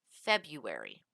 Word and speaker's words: February: Also notice that February, it is only pronounced with the one R, but it is spelled with two R's. So it's spelled February, but it's pronounced February.